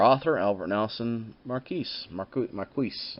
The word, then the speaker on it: Marquis: Albert Nelson marquis market Marquess i believe is how you pronounce it ma r qu is and then it